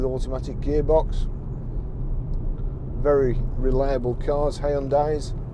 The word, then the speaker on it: Hyundai: gearbox very reliable cars hyundai's but hyundai's as they're supposed to be pronounced i think the airbags